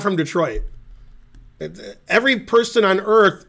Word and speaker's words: Detroit: Unless they're French, then they might say the correct pronunciation, which nobody says. Nobody's going to be correct. You know, de toi.